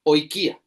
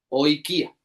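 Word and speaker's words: οἰκία: De nuevo, se escribe como una comilla con curva hacia la derecha y no se pronuncia como la palabra oikía. Oikia.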